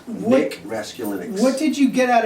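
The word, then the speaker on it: Raskulinecz: I will pronounce it. It is Raskulinix. Nick Raskulinix.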